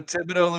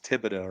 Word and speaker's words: Thibodeau: So the H is silent? I believe so. Just like the X is silent. The H is not the first silent letter that comes in my head in that word. No. The X. Obviously, dough, whatever. But that's just, I didn't know the H.